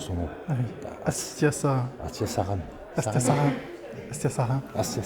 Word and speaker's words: Astiasarain: Désolé parce que je me suis répété, mais je ne sais plus comment on prononce son nom. Ah oui. Astia Saran.